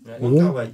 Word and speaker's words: Wong Kar-wai: Wong Kar-wai, c'est ça ? J'ai jamais réussi à se prononcer ce nom. C'est exactement comme ça. C'est comme ça, ça se dit ? Wong Kar-wai.